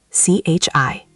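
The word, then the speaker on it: 吃: Chi, c h i, tone one, means to eat. You already heard it inside chi le ma. Say it. Chi. Chi. High and flat, like ji from airport.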